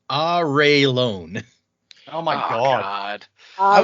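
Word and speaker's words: Arelon: is it ireland or arlon or i always said it on uh according to this it is pronounced ah ray lone oh my god all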